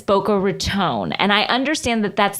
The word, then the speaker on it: Boca Raton: I lived in Boca Raton for many years. And people have said that it's Boca Raton.